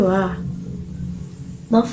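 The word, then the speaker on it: は: nama lalu San kemudian Wah itu partikel ua bacanya wa tapi tulisannya adalah h kemudian nanen yang artinya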